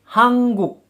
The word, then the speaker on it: 한국: Hanguk. Hanguk. Dibaca menjadi, pelafalannya menjadi hangguk. Hangguk. Ini dikarenakan bacim nien bertemu dengan konsonan giok.